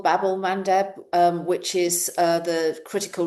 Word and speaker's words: Bab-el-Mandeb: of um um Bab-el-Mandeb I think it's pronounced Babel Bab-el-Mandeb um which is the